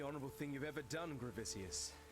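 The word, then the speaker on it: Gravicius: The only honorable thing you've ever done, Gravisius. Gravisius.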